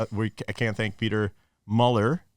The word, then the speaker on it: Muller: but uh yeah we I can't thank Peter Mueller it's pronounced Mueller a lot of people mispronounce his last name